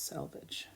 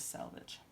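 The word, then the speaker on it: selvage: v a g e pronounced the same means the same so I wouldn't worry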